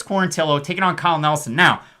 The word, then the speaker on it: Quarantillo: know apologies to him i kept saying quarantio but it's quarantillo taking on kyle nelson